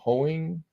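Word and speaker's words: Hoeing: night's game Brian ho hoing I guess is how you say his name that it's another sea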